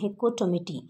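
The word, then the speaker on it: Hecatommithi: सो the answer is द हेक्कोटोमिथी। हेक्कोटोमिथी इज a collection of tails published in 1565। हिकोटोमिटी एक collection है, हिकोटोमिटी इसका right pronunciation है हिकोटोमिटी।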